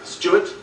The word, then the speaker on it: Stuart: Stuart, with a W, is pronounced like this. Stuart, without a W, Stuart. What are you doing? It's not like it's, what's your name? Stuart. And you are Stewart.